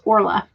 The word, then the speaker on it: Orla: coming in here with all of these are pronounced as orla irish is strange yes um let's see jenna